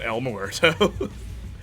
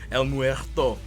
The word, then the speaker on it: El Muerto: that well-known spider-man villain elmore morto el muerto sorry i pronounced it like a french man uh who's been in